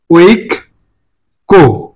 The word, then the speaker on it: ঐক্য: শব্দটার সঠিক উচ্চারণ হচ্ছে ওই। ওইটা হচ্ছে একটা যৌগিক বর্ণ, এর মধ্যে আছে ও আর রস্বই। ওই, এই যে কয়ের সাথে কি আছে, জফলা। জফলা যুক্ত থাকলে কোনো শব্দের মাঝে বা শেষে যদি কোনো কার চিহ্ন থাকুক না থাকুক, থাকলে ভালো, না থাকলে ভালো, এই জফলা থাকার কারণে ওই শব্দটা বর্ণটা দুইবার হবে। তাহলে ওইক, ওইক কো, কি উচ্চারণ হবে? ওইক কো।